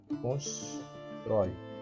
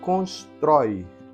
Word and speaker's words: constrói: pensar aqui na palavra constrói a forma verbal do construir constrói qu é ca bônica constrói Exatamente é o Oi é o troi melhor dizendo termina em ditongo aberto o portanto recebe acento gráfico